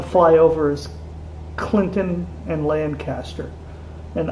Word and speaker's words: Lancaster: The town we're about to fly over is Clinton and Lancaster. And unlike in Pennsylvania, it's pronounced Lancaster here, not Lancaster.